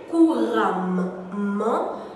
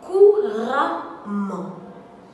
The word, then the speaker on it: couramment: Le souci dans la prononciation de ces adverbes est que certaines personnes ont tendance à vouloir faire ressortir le son des deux M. Ils disent donc couramment, évidemment. Pourtant, la prononciation correcte est évidemment, couramment. Évidemment, couramment.